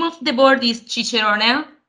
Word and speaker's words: Cicerone: It's the Cicerone board. We choose an Italian name because, we are from Italy.